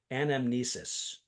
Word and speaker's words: anamnesis: hadn't heard before I think I'm going to pronounce it correctly anamnesis yeah yeah yeah totally which which is the